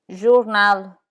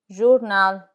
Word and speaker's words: journal: L, in journal, journal.